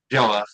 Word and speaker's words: Geloff: Did I pronounce that right? Geloff. Geloff, who's the CFO and COO at Starion Bank in the greater Bismarck area.